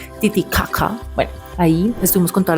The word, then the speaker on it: Titicaca: Nos dijeron que se pronuncia así, Titiakaca.